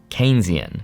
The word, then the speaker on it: Keynesian: Economics that people also believe which is the Keynesian approach keyan key Keynesian even though it's spelled ke hard to pronounce but just Kensington